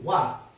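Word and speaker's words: は: Karena partikel itu biasanya penulisan dan pengucapan beda. Ya. Jadi kalau misalnya untuk partikel wa ditulisnya ha.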